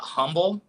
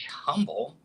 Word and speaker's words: Humble: And you want to know something interesting about humble? In Texas, it's not actually pronounced humble. It's just pronounced humble. Like there's no H there.